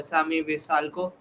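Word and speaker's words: Šime Vrsaljko: The only extra point that I have got to add, also the Atletico Madrid guy is pronounced Sami Visalco.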